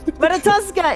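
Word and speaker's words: Ratatoskr: Ratatoska is absolutely adorable.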